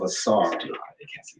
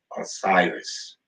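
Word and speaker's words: Asar: do our the the the principle of assar um most of you might have heard it through its Greek pronunciation of Osiris but um if you've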